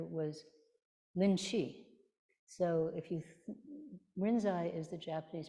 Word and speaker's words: Rinzai: and the other was lynchi so if you rinzai is the Japanese pronunciation of linchi and we are also a